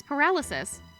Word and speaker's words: paralysis: Oh, have I been saying it wrong? Paralysis? Am I? No, it's paralysis. It's paralysis.